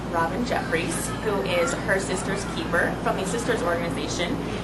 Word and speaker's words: Systers: sisters is hi yes so sisters to start with is spelled Sy y s t RS and it's at sort